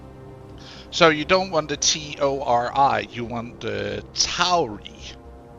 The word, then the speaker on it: Tori: So you don't want the T O R I. You want the toy instead. This is how it's spelled.